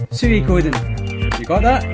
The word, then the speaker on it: Suikoden: future videos, here's one last time, one definitive pronunciation of this game series here. And it's quite simple. It's Suikoden. You got that? Suikoden.